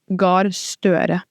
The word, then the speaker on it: Gahr Støre: Can I pronounce it? Jonas. Jonas? Like Jonas. Gahr Støre.